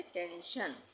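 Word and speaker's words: tension: तो एस का उच्चारण क्या हो जाएगा? श हो जाएगा। इसको हम पढ़ेंगे टेंशन।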